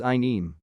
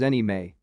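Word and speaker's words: anime: cash then he may i used to pronounce it as i neem recently found it is pronounced as any may necklace pronounced it as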